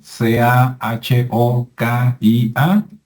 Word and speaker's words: Cahokia: cahokia qué es cahokia que se escribe kokia verdad c a h o k i a pero en Estados Unidos es cahokia y es un lugar